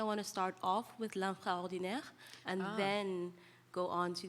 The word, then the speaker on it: L'infraordinaire: So say the proper pronunciation for me. L'infraordinaire.